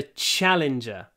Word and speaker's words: challenger: The champion defeated the challenger. Challenger. Lots of sh in challenger.